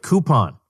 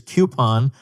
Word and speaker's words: coupon: to pronounce it the old lady way of coupon stop that the correct pronunciation is coupon and I will hear no dissent on this